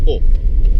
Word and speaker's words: Å: E adesso stiamo andando al villaggio di O, che si pronuncia così perché ha solamente una lettera che è il suo nome, l'hanno chiamato così.